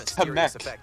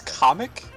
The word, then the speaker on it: Kamek: Last time it was kamek, now it's comic. Excuse me. It was supposed to be kamic, right? Like that's that's how I've always pronounced it.